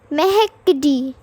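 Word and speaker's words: mercredi: Then Wednesday is mehekdi.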